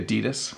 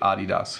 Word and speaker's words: Adidas: all North Americans because we usually say adidas like hey those are nice Adidas shoes you have but it should be my understanding that this is a German company and it should be adios so there you go